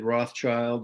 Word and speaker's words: Rothschild: My email too, people can contact me at Rothschild. There's a silent S between the Roth and the child.